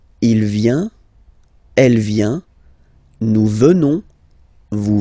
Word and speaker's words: venons: Nous venons. Okay? O-N-S, classical ending for nous. Okay? Final S not pronounced. So O-N, on, venons, venons. Nous venons. Nous venons.